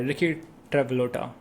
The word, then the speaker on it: Rikki Travolta: That's just the pronunciation of the name, Rikki Travolta. Okay, Rikki Travolta, right?